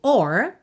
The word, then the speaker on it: or: Mas os Rs que vem depois de uma vogal, como por exemplo, or, a palavra ou, or, em geral, no Reino Unido vamos ter o, o, tá?